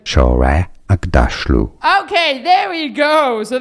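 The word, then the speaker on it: Shohreh Aghdashloo: Shora Agdashlu. No, that's not how you pronounce her name. Agdashlu. Agdashlu. Shore Agda. This is how you pronounce her name. Shore Agdashlu.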